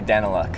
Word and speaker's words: Daniluk: Well, we say Daniluk, Daniluk. Okay. but it's like Danelia.